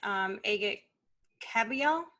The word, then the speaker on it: Agit Kabayel: Right now, it looks likely that we're gonna get Agit Kabayel.